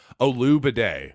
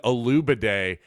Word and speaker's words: Olugbode: Donovan Olugbode, as I'm now choosing to pronounce his name. I think the G is silent.